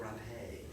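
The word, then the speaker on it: rapé: Rape, it depends on the region, but it's like rape. And it actually is spelled like rape. Yeah, R-A-P. Yeah, with a little Okay, explanation. you pronounce the E.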